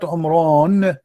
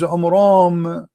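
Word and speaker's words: Amram: First of all, the father of Moses, his name is not Umran, his name is Umram, according to the so he got the name wrong.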